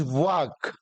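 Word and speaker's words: work: वाक बोलते हैं इसको इसका फनेटिक जो उच्चारण होता है फनेटिक ट्रांसक्रिप्शन होता है वो ऐसे करेंगे इट इज वक जो आपका वोकल कोड है वहां से इसका उच्चारण करना पड़ेगा इट इज लंबा अ यह वाला लंबा अ होता है और आर इसका साइलेंट हो जाएगा तो यह हो जाएगा वक वक ऐसे ही जैसे यह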